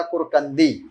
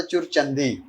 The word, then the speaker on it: کرکندی: مثلا اس کے گاؤں کا نام مجھے پتہ چلا کرکندی، لیکن یہ ہمیں بتاتا تھا چرچندی.